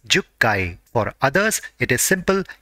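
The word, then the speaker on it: 十階: For 10th floor, it is jukkai.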